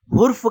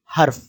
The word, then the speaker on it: حرف: کے اوپر زبر ہے۔ بعض طلبہ اور کچھ لوگ اس کا تلفظ حرف کہتے ہیں، لیکن اس کا تلفظ صحیح ہے حرف۔ حرف کسے کہتے ہیں